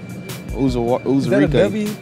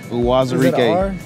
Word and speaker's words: Uwazirike: Aoma Uzurike. That's a W. Aoma Uwazirike.